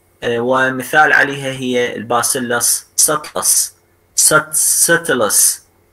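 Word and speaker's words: subtilis: ومثال عليها هي الباسيلس ساتلس، ساتلس هاي البي ما تلفظ.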